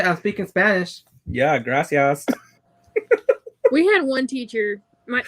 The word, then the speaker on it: gracias: i say thank you he says grassy ass because in spanish it's gracias yeah yes i know